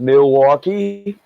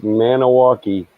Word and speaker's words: Milwaukee: You got Milwaukee. Yeah, that's Potawatomi for rich and beautiful land. And it would be Maniwaki. It should be pronounced Maniwaki.